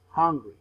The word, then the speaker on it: hungry: one remember more time hungry is not the same as angry the pronunciation for this one is this hungry this repeatedly hungry hungry angry angry is a different one remember that we have